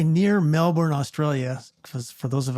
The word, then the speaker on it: Melbourne: be absolutely absolutely and I will correct you it's it's Melbourne not Melbourne Melbourne's in Florida Melbourne's in Victoria Australia great Point didn't take